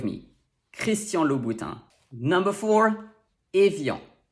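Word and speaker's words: Évian: bhutan number four evil even though it's often spelled without the accent it's really helpful to have it so we know that the first sound is a next we have i before another vowel sound which makes it sound like yeah and finally we have the nasal on to pronounce it properly you have to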